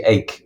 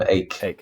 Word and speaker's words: Eijk: Yes, well, I think it's actually Eijk, Willem Eijk is how the Dutch pronounce it, yeah.